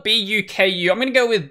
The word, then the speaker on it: Buku: It's spelled B-U-K-U.